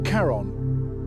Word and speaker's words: Charon: The moon's name is Charon, pronounced like Sharon, not like the ferryman of the underworld, though that's the mythological reference.